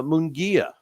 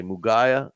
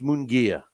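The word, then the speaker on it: Munguía: uh in interesting to see okay what I'm pronouncing it wrong again it's uh mongia right what did I say muga okay yeah it's mongia I was I actually learned how to say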